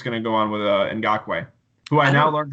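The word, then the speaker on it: Ngakoue: you think is gonna go on with a in Gok way who I now learned how to pronounce his name out there listening to the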